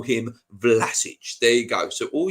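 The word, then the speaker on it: Vlašić: don't like it go away the name is vlasic i know that but the joke on the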